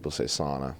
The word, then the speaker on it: sauna: Sauna. Jamie. Yeah? How do you pronounce this word?